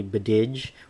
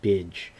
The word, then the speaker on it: B'Dg: Now the final lantern critter we have here is Bidge, and I think I'm pronouncing that correctly. I thought it was originally Bidge or Bidig, but I believe it's properly pronounced Bidge on here.